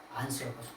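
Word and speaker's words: ἄνθρωπος: 요거를 뭐냐 안스로포스라고 읽어요. 사람을. 안스로포스.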